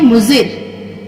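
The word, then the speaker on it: مضر: इसको हम इंग्लिश में पढ़ना, देखिए प्रोनाउंसिएशन इसका हम देखेंगे BADMAZGII बदमज़गी। बदमज़गी के मानी है नाराजी। अब यहाँ पे है मुजिर, मुजिर को हम यहाँ पे देखेंगे इंग्लिश में MUZIR मुजिर, MUZIR मुजिर।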